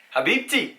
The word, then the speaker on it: Habibti: Habibti. Habibti.